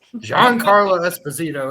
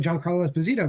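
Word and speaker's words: Giancarlo Esposito: it to Jerome still that's what it is Jean Carlo Esposito is correct I guess I say it like a gringo my fault your final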